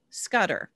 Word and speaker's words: Scudder: Vida Scudder, V-I-D-A Scudder, S-C-R-U-D-D-E-R, Scudder, yeah, Scudder, S-C-U-D-D-E-R.